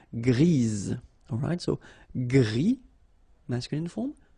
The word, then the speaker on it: gris: Okay, Gris, don't pronounce the S, but then for the feminine form, grise.